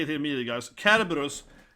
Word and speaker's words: Cerberus: Cerberus is how it's pronounced, okay? Not Cerberus, right? A lot of people say Cerberus, but it's supposed to be a K in that kind of old antique language of the C indicating.